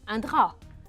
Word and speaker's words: drap: كمان فيه حرف بالاخر ما بنلفظه mais ce n'est pas le T, c'est un P. un drap.